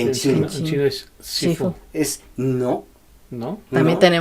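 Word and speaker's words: 師父: En chino es Shifu, Shifu. Es no. ¿no? También no, tenemos errada la idea. Sí. Ujú. ¿Qué Sifu es la pronunciación cantonesa.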